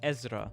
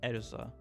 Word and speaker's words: Ezra: It's Ezra, not Erza.